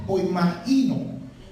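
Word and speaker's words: ποιμαίνω: Poimaino, esa es la próxima palabra. Poimaino. Esa palabra significa, bueno, la pronunciación correcta es poimaino.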